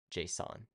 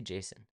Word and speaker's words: JSON: JSON. I always say Jason. I know it's not Jason. I know that's not how you pronounce it.